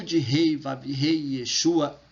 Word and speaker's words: Yeshua: comunidade cotiana no brasil nós usamos yeshua para pronunciar o nome do salvador né por entender que esta é a melhor pronúncia e essa é a